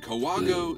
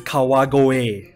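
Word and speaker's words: 川越: I was born in Kawago, Saitama. No, that's pronounced Kau. Oh that my is, god, that's terrible fucking. It's Kawagoe.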